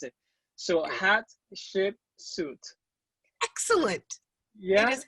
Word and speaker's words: Hatshepsut: if not i'm going to tell you to pronounce it so hot suit excellent yes it's great awesome how are you